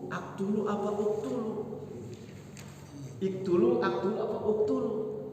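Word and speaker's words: اقْتُلُوا: Iktulu, aktulu apa uktulu? Iktulu, aktulu apa uktulu? Uktulu Yusuf karena fiil amarnya uktulu bukan iktulu.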